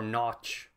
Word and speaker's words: Nagy: I have way more trust in Matt Nagy or Notch, as I think it's supposed to be originally from the European pronunciation.